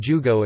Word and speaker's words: jūgo: An exception to this is numerals, 15 jugo is considered to be one word, but is pronounced as if it was ju and go stacked end to end, d, o.